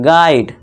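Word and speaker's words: guide: पे क्या हो जाएगा, यू साइलेंट, तो इसे हम गाइड नहीं पढ़ेंगे, गाइड।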